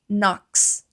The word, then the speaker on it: knocks: Algo interessante é que esse essas palavras que começam com K e geralmente ali são seguidas de N, tá bom? Nós não pronunciamos essa letra K. Então, she knocks.